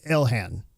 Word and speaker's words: Ilhan: Now, speaking of Elan Omar, I'm going to call her Ilhan. I think that's how you say her name. Elhan Omar.